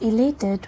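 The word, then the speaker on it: elated: The painter was इलेटेड with his beautiful daughter. यह जो word है ई एल ए टी ई डी। इसे हम बोलते हैं इलेटेड।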